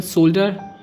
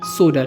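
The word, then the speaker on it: solder: तो इसकी सही प्रोनाउंसिएशन सोल्डर नहीं, सोडर है।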